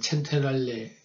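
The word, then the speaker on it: Centrale: 여기는 이제 밀라노 어떤 중앙역, 얘들 발음으로는 첸테랄레 역이라는 밀라노 중앙역이고요.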